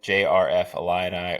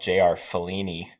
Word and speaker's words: jrfillini: All right, we are here with Joe JRF Illini, or the man I called JR Fellini once upon a time, and he promptly corrected me about that.